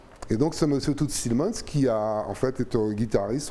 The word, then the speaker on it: Thielemans: il s'appelle tout stimmen toots thielemans petit le mans ça dépend si on prononce à la flamande ou ou en français c'est un flamand d'accord